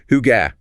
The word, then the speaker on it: hygge: Pronounced hygge.